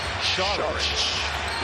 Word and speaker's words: Šarić: Switches on to Harden, or if you're Croatian, it's pronounced Šarić.